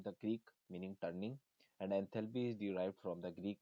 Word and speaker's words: enthalpy: As for pronunciation, entropy is usually stressed on its first syllable, while enthalpy is usually stressed on the second. देखिए enthalpy is the sum of